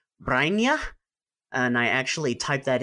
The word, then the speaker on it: Brynje: So pronounce the name again. Brainia. Brainia. Okay. So this is Brynje.